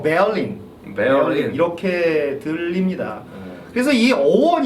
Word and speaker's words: Berlin: 를 이렇게 이런 걸 을 이런 발음으로 넣어서 베를린 이렇게 발음을 하는데 사실 때 알림 뭐 어떠한 이런식으로 바르 밑에 있고 잘난 사람들 보다 베어링 이라고 하니까 그렇습니다 아 얼른 팬들에게는 왠지 배낭의